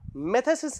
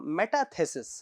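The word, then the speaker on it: metathesis: और मेथेसिस रिएक्शन, अब यहाँ पे ये बड़ा ही इंपॉर्टेंट नाम है, ये नाम रखने की जगह ये मेटाथेसिस, सॉरी मैंने बोलने में प्रोनाउंसिएशन गलती होगी, मेटाथेसिस रिएक्शन। अब ये नाम बहुत इंपॉर्टेंट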